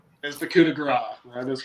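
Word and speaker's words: coup de grâce: Coup de grace, or coup de grace, however the hell Gravy says it this week. Josh. Coup de grace. Maddie. And it is coup de grace.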